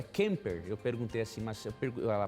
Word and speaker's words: Kemper: Eu perguntei há pouco para ela assim, como é que é a pronúncia do teu sobrenome? E ela falou, é Kemper.